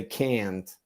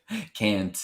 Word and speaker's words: can't: isn't there yeah because you would say canned is that right I like that Joe can't yeah it's that ah sound it's the same as banana you hear it and